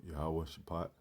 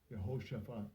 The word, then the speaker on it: Jehoshaphat: And as you see how it's spelled, Jehoshaphat. See how they pronounce it. Strong's H 3092. Jehoshaphat. Jehoshaphat.